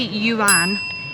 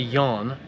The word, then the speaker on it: yuan: I'm saying it right. I used to say it wrong. I've got to remember how to say it. Yeah, you see on the last series and the beginning of this series, we called it the yarn, and everyone in the comments has been saying, you've been saying it wrong.